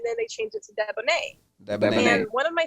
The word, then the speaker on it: Deboneé: So, how do you pronounce your name? Deboné.